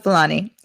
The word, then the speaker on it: Fulani: the house house of flying people am i pronouncing this correctly hausa okay and you're talking about flight okay house of fulani am i getting it right now yes i